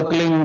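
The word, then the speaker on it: क्लीं: एक शब्द क्लीन शब्द, क्या आधा ला में मिलावा, बड़ी की मात्रा और बिंदी, उसका उच्चारण होगा क्लीन गा। गा की ध्वनि निकलेगी पीछे।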